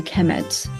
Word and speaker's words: Kemet: will be the noun will be pronounced a kemet.